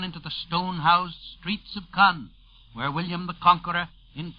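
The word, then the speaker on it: Caen: this second beachhead is 40 miles northwest of khan khan by the way is spelled c-a-e-n it is near isinhi on your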